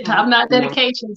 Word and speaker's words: TopKnot DediKations: Yeah, TopKnot DediKations, yes.